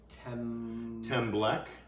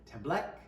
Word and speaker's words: Tembleque: Tembleque. Tembleque.